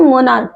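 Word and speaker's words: monarch: नहीं ना तो उसको मोनार्क मोनार्क नहीं पढ़ते इसको मोनार्क पढ़ते है ठीक है अब मोनार्क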